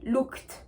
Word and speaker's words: looked: Vous entendez bien le son T que je fais à la fin, looked. Looked. D'accord? Et je ne veux pas entendre looked. D'accord? Je ne veux pas l'entendre parce que c'est faux.